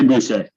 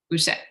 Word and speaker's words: Boucher: Am I pronouncing that right? Butcher? How do you like to say it? That is good. What's your preferred pronunciation? I say Boucher. Boucher, excellent. The nominee and or other